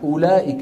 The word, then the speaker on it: أولئك: أولئك، الواو في أولئك، شو بنضع على الواو؟ صفر مدور. على أن هذه الواو لا تنطق أبدا، يعني ما حدا بيقول أولئك على هدى من ربهم وأولئك، ما حدا يفعل ذلك.